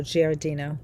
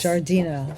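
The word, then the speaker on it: Giardino: No, Gardino. Oh jeez. Jardino.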